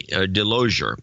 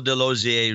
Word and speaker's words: DeLozier: once again these rights it is Michael de lo za rhymes with enclosure DeLozier rhymes with enclosure